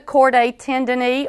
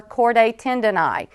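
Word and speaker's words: chordae tendineae: we'll begin with the cordate tendon or cord tendon you may hear this pronounced either way and either one is usually acceptable let's go back to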